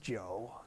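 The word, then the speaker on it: 酒: the word for liquor they're both pronounced joe in the third tone it's a perfect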